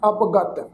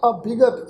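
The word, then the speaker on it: ਅਭਿਗਤ: पाठ बहुत सारिया सिख संगतां इस ढंग नाल उच्चारण करदियां जी अवगत, पर मैं साध संगत जी इत्थे बेनती करना चाहांगा, ये जिहड़ा पाठ है ये पाठ अवगत नहीं है। इस शब्द का पाठ उच्चारण करांगे अभिगत। ये जिहड़ा ऐड़ा अखर है ये अगेतर अच, ऐड़ा प्लस विगत, तो पूरा शब्द प्रनाउंस होएगा अभिगत।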